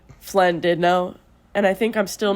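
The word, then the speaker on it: Llandudno: Flynn did know. Flynn did know is spelled with two L's. Why did two L's make an F sound?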